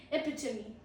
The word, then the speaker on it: epitome: PIT पे थोड़ा सा जोड़ लगाइए. Epitome. The meaning is the perfect example of something. The perfect example of something is known as epitome. Pro tip is not EP. Epitome. 4 syllables is not allowed. It's just epitome.